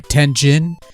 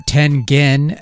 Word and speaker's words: Tengen: Nintendo Entertainment System by tenjin or ten gen as it's supposed to be pronounced or so I'm told